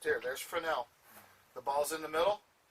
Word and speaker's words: Fresnel: I know it looks like Fresnel, but it's pronounced Fresnel.